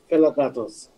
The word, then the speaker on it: PelaGatos: Pelagatos. Am I pronouncing it the right way? Okay. Yes, okay. Yes, it's perfect. You said it correctly. Yes. Pelagatos. Pelagatos, the biggest and the baddest radio station.